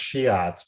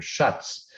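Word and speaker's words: Schiøtz: You don't see it much anymore or at all, but it's often pronounced Shiatz, but I'm told by someone who spoke to the individual who developed this, it's Dr. Schutz, which was the Dutch pronunciation.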